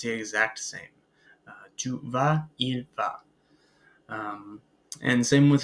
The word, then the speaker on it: vas: Tu vas.